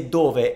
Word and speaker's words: dove: In dove, the stress is in the do, dove.